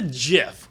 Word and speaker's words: GIF: off it it's a jiff you got Google yeah I'll have to look it's a gift it's a Jif gift it's a hard G it's a because the word is graphics it's a hard well